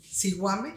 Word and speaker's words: Zihuame: Se escribe ZIHUAME, Siguame, y aparte Mochilla con doble L, AC.